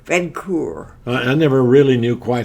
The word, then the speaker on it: Vincoeur: Pronounce your name. Vincoeur. Vincoeur.